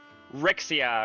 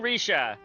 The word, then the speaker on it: Rixia: I'm willing to bet that she said it the way that that English speakers will say her name, which it would be like Rixia or something like that.